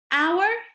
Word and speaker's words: hour: Hour, hour. Here in this word, the H is silent. It does not say its sound, okay?